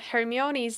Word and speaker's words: Hermione: I don't know where yet, but Uh Hermione's name is pronounced Hermione.